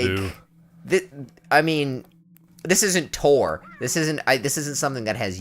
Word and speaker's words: Tor: That's Thor. Okay. No, it's Tor.